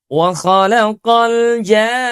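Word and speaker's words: وخلق الجان: Kita sempurnakan panjang madnya itu enam harakat terlebih dahulu baru pada ketukan yang keenam itu bunyi tasydid. Waalaqal jan.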